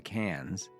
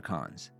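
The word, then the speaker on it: Cannes: We're going to see all these spots like when we go to cans. How do you say it? Cans or cons? Cans. It's cans.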